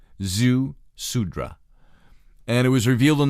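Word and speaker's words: Ziusudra: the the zhu zi you pronounce that zhu sudra and it was revealed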